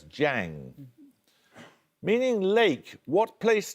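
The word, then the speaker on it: Jiang: are Nanjing and Hangzhou um zeddy no it's Jang meaning Lake what place name element links the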